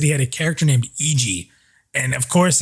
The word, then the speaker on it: Iijii: case it's a nightmare right um but it's pronounced eg uh but it seems like it's sticking people are starting to use it so so kyle is eg for sure yeah that's a weird one that's